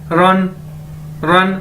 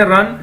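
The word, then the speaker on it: 人: और second word है, third word ये देखिए हमारे पास REN, रन, जिस तरह हम इंग्लिश में कहते हैं दौड़ने को रन, इसी तरह चाइनीज में रन, और इसका मतलब है पर्सन, शख्स, ठीक है।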